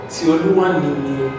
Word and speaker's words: Tioluwanini: Tioluwanini. Okay, it's not separate. It's not separate. Together. It's together.